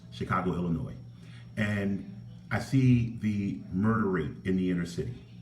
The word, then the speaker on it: Illinois: I look at the city of Chicago, Illinois, and I know you're not supposed to pronounce the S, Chicago, Illinois.